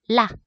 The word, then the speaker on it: 辣: 여기 라. 자, 중국어로 라 라고 사성어로 발음하게 되면은 얘는 맵다란 뜻이에요.